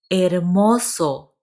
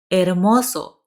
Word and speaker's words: hermoso: Hermoso. Remember the H is silent. Hermoso.